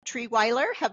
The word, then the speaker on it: Trierweiler: Today I have with me Treeweiler.